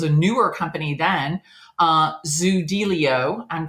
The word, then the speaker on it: Zoodealio: guess it was a newer company then uh zilio I'm pronouncing it correctly yes yes you are awesome